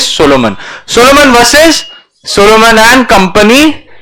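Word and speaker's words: Salomon: There was another landmark judgement, बेटा ये SALOMAN ही है, I have not made a spelling mistake. सोलोमन usually लिखा जाता है SOLOMON, ठीक है, बट इसमें कैसा है, लोग ने लिखा ऐसा है, स्पेलिंग है, बट इट इज the word is सोलोमन.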